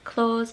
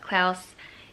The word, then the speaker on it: Klaus: out i've loved klaus i'm pretty sure that's how you say it not claws but klaus it's animated on netflix